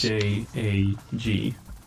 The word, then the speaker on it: jag: J-A-G. So But I wait, would what?